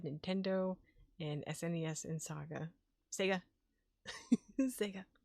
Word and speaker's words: Sega: Sega. Gotta say it like the commercial. Sega.